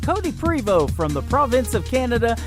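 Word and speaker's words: Prevost: primo is prev OST the T is silent Cody primo from the province of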